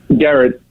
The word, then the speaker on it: Gerrit: It's Gerrit? Garrett.